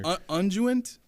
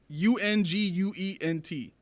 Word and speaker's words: unguent: Unguent, another name for ointment. What is it? Lindsay says menthol. Hey, see, now we're going. Now we're getting there. Unguent, UNGUENT.